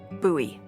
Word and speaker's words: Bowie knife: knife it's actually pronounced buoy what no it's like the last name like David Bowie different last name bo